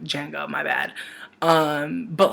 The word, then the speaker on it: Django: And I know the D is silent, like Django, my bad.